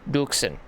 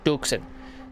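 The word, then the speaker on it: Dürksen: probably pronounced it didn't mispronounce his last name again but instead of it being Joshua it's Joshua Duken that's actually right Duken so you pronounce it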